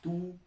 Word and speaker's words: 都: Déjà, il faut que je vous apprenne une chose pour son étymologie, c'est que sa deuxième prononciation dans le dictionnaire chinois, c'est tu.